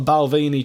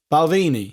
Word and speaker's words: Balvenie: going at the moment Danny I've got a Balvenie triple cast 12 years beautiful in a triple